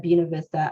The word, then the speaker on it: Buena Vista: winston salem and yes i intentionally said buena vista i know how to speak a little bit of spanish but that's how you say it when you live here in winston-salem so we have several